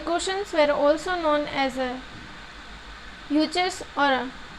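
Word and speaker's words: Yuezhi: The cushions were also known as यूचर्स और टॉर्चरन्स. आई am repeating this word because ये थोड़े pronunciation में आप लोग को प्रॉब्लम हो सकता है. यूचर्स और टॉर्चरन्स.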